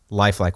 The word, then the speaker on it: Lifeliqe: Tell us a little bit about Lifeliqe, which, by the way, is spelled like lifelike, but with a Q instead of a K, right?